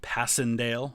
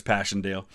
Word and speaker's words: Passchendaele: As with all things, the British like to kind of butcher the names a little bit, but uh we remember it as Passandale.